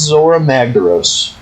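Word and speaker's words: Zorah Magdaros: So that big volcano, that's Zora Magdaros.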